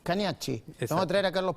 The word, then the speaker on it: Cagnacci: para comprender lo que Cañashi, ¿cómo se pronuncia finalmente? Cañas. Caniach, Caniach.